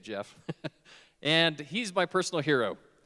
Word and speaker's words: Geoff: And it's spelled Geoff, which is the proper spelling. But yeah, you say it Jeff.